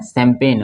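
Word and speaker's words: champagne: देखिए इसको ये है सैंपल ये क्या है सैंपेन और ये क्या है कैंपेन अंतर है थोड़ा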